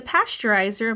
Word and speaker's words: pasteurizer: some hints here pass right or caption the pasteurizer makes the milks milk mix safe to eat